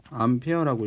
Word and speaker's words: 암페어: 단위는 이렇게 쓰는데 이거를 A라고 안 읽고 암페어라고 읽습니다.